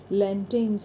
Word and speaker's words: lanterns: यहाँ पर भी आर साइलेंट है, लैंटेन्स है ये। सो आर जो है यहाँ पर आर की साउंड नहीं आएगी।